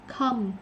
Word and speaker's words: come: Mọi người chữ này hay đọc là chữ khom lắm nè. Khom, khom here nè. Khom. Come, nó là come here. Rồi, chỉ là làm gì. Rồi, tất cả đều là ớ hết á.